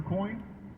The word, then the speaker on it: Coign: Now, why should you sign up for Coin? Well, first of all, let's understand, it's spelled C-O-I-G-N. Sounds just like the coin you have in your pocket, right?